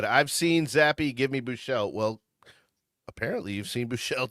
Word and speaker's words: Buechele: Are we sure it's not pronounced Boucher? Yeah, I'm pretty sure it's Buechele. Okay.